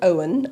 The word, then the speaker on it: Eoghan: So our sales guy is called Owen, and it's spelt the Irish way, EOGHAN.